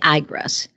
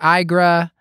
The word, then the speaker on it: IGRA: So in those patients, I prefer using the interferon gamma releasing assay, the IGRAS.